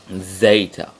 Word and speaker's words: zeta: Zeta, like a Z sound, and as we'll see soon, it can also make the D sound, as in DZ or DS, like heads, but we'll come to that later.